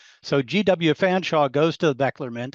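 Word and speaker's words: Featherstonhaugh: It's pronounced Fanshawe. So G.W. Fanshawe goes to the Bechtler Mint and asks Bechtler, and he records this in his book, right?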